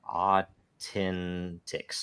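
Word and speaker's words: AU10TIX: uh uh how do you pronounce it it's pronounced uh Authentics Authentics uh is an Israeli company that was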